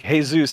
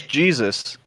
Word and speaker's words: Jesus: is jesus though and that's how it's pronounced too it's not like hey zeus it's it's jesus and we were introduced